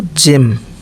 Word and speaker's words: gem: जो है गा, लेकिन जब जी के बाद ई या वाई हो तो इसका उच्चारण जा होता है। जैसे देखिए GEM, देख रहे हैं ई, तो जेम, जेम मतलब मणि।